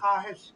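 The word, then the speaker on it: خواہش: আনোয়ার ভাই আহেশ, খেয়াল করছেন, এটা হবে খাহেশ, উচ্চারণটা কি হবে?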